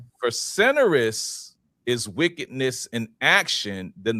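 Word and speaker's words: facinorous: And the first word is facinerous. Facinerous. And it's an adjective and it's spelled f a c i n o r o u s.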